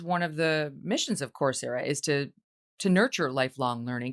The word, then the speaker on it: Coursera: Now, you are the co-founder of a group called Coursera. Is that how you pronounce it? Yes, Coursera.